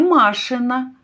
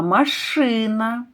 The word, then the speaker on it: машина: Наприклад, слово машина. Не машина, а машина.